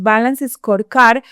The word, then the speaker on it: Balanced Scorecard: decir como tal cual, Balanced Scorecard, se escribe así. Balanced Scorecard, pero es Balance Scorecard, que es una metodología